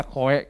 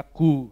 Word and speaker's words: Khoe: Banyak membacanya Koe karena tulisannya KHOE. Tapi sebenarnya dibacanya Ku, jadi agak-agak posesif kalau panggil nama saya.